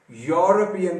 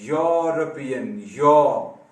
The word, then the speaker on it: European: इसका ई भी नहीं प्रोनाउंस किया जाता, इसको आप यूरोपियन कहते हैं, यूरोपियन। वो हमने सीखा था ना